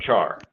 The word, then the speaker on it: char: has the type and I just pronounced a char that's just a personal program so a has type